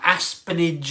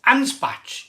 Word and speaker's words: Anspach: Now, I've been calling this brewery Aspenage and Hobday. Aspenage. It's Anspach. It's Anspach and Hobday. Is that right?